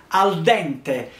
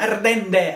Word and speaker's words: al dente: Quindi, se voi andate anche a Hong Kong e dite gnocchi, lasagna, tirami su al dente, i giapponesi lo pronunciano ardende, ardende, non sanno che cosa significa.